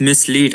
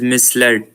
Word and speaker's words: misled: Uh but I think uh one word uh she pronounced uh wrong and she pronounced mislead. I think this is misled.